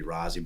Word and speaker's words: Rozzi: know so when when rozzie he pronounces it Rosie but it should be rozzy but it's it but